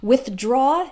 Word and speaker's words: withdraw: from your account so it's just literally combination of the words with with which has that th sound with and then draw so practice them separately with draw with draw with draw okay and